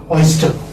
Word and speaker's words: oyster: Oyster. As I told you earlier, that R is not pronounced.